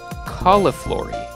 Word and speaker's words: cauliflory: it is spelled uh c a u l i f l o r y I think and uh I'll just say cauliflory it kind of sounds like cauliflower which is interesting um and actually the